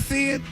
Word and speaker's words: Syd: Is that how you pronounce her name? Even y'all, SYD Sid? Yeah, exactly, Sid.